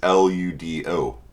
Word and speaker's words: ludo: this out in discord so you don't think i'm saying l-e-w-d it is l-u-d-o ludo ludos is latin for game right so lewdology uh which